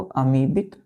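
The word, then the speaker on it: amoebic: तो आपसे यदि डिजीज पूछा जाए तो क्या बोलना है आपको, अमीबिक डिसेंट्री, क्योंकि ओ यहाँ पे बच्चों क्या हो जाता है, साइलेंट हो जाता है, ओ को हम नहीं पढ़ते हैं, अमीबिक डिसेंट्री पढ़ेंगे।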